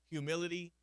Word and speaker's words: humility: There's so many people that still pronounce humility without the H or humble without the H, and I blame Texas.